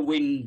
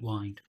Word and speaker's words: wind: Not the wind in the weather, you know, like that. So it's that wind. It's tons. Winding. Sorry, winding up? Yeah, I'm just showing you the pronunciation.